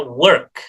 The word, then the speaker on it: work: Nah, work itu tidak dipronounce o tetapi e ya, work. Jadi bukan walk, walk work walk tetapi work.